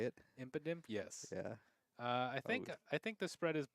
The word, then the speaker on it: Impidimp: Impidimp.